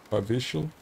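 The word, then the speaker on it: Powiśle: W's are pronounced like B's. Povichle.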